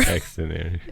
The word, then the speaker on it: Xdinary: Xdinary. The shortened form of extraordinary.